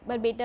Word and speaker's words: Barpeta: और बॉम्बे बरपेटा जो, बॉम्बे नहीं, बरपेटा, बरपेटा। बरपेटा। एक बार स्पेलिंग फिर से बोल देंगे।